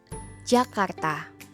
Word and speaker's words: Jakarta: So, today we will learn how to pronounce Jakarta like a native speaker. Jakarta. Jakarta.